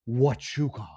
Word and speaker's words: Huachuca: Leverett says, you pronounce it Huachuca.